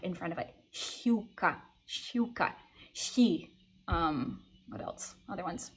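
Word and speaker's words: щука: when I realized that the vowels after sh are going to get a small Y sound in front of them, okay? So a word like pike, shiuka, you really should be pronouncing it as like a shiuka, okay?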